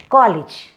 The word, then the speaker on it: college: Hot top college. Actually, we Indians pronounce this college as college. It is not college, it is college.